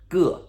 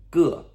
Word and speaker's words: 个: So, 个, okay? 个.